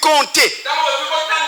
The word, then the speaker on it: compter: Quand on dit compter, le P est au milieu du mot. Vous dites compter, mais vous ne dites pas compter. Donc le P n'est pas prononcé. Il devient silencieux.